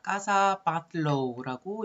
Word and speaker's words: Casa Batlló: 까사 바틀로우라고 읽어주면 되고요.